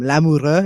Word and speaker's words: Lamoureux: I guess I should have got from your name Lamoureux. Is that how it's pronounced? Yeah, it is.